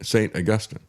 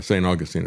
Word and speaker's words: St. Augustine: He was visiting St. Augustine, uh, St. Augustine, I should say. That's what it's pronounced in Florida.